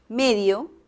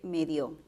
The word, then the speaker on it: medio: un medio de comunicación la palabra medio es una palabra que puede pronunciarse de dos maneras medio con acento en la primera sílaba y también puede pronunciarse medio puede moverse el acento ojo que en este